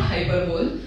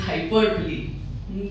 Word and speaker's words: hyperbole: this again will hear a lot of people calling this hyperbole because not hyperbole it is hyperbole hyperbole is an exaggeration